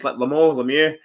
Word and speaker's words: Lemieux: Mario Lemieux, that's how you pronounce his Lemieux, best hockey player of all time.